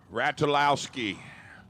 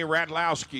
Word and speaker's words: Ratulowski: Danny Ratulowski. How about that? The U is silent. I've just been corrected. Is that you, Brad? Thank you, Brad. Correct me. So Danny Ratlowski, 628's the dial for